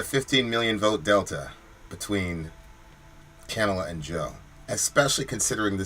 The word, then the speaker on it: Kamala: Kamala. So is it Kamala? Look, you just disappeared. So is it Kamala? Somebody phonetically, I used to call her Kamala, and then I kept hearing on NBC Kamala.